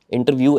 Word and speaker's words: Intervue: आपकी जो कंपनी है इंटरव्यू इंटरव्यू ऐसे ही प्रोनाउंस करते हैं आईटी आर वई परफेक्ट